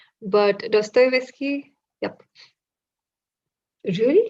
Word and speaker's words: Dostoevsky: on dostoyevsky i quite recently learned how to pronounce his name and please correct me if i'm still saying it wrong but dostoevsky yep really like russian literature and on he's